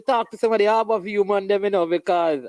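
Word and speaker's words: Harbour View: It's not Harbor View, you know. People get the name wrong. It's Harbor View.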